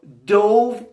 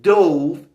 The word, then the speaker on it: dove: Now dove, which has the same spelling as dove, is a white bird. Often we say doves represent peace. They symbolize peace. So again, one more time. Dove meaning to dive in the past and the white bird dove.